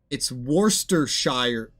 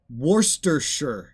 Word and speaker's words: Worcestershire: of my ability the way that the Brits say it. It's Worcestershire. No, it's Worcestershire. It's Worcestershire. They say Worcestershire. Now they have an accent when they say it as well, but Worcestershire. That's how they say it.